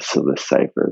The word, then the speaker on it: Psilocypher: It's spelled PSILOCYPHER, the Scylla Cipher, little play on words there.